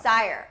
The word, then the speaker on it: Syre: people are saying Syre, which I don't know how you pronounce it. Shore? But I think it's Sire, right? Sire? Yeah. Sire.